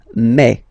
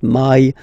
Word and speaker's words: mes: In French, remember, when you combine this A and then E vowels, you get the sound E, E. So really open E, okay? And then you pronounce it me, me. Okay, so don't pronounce E, don't try to pronounce it. No, it's me, me. So it's not my, it's me, okay?